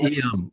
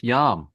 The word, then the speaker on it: iam: Oh, iam means now or ready or but it's not iam, it's yam.